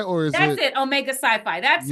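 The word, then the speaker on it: Omega Psi Phi: it Omega sci-fi or is it that's it Omega sci-fi that's how you pronounce it yeah yeah um that would be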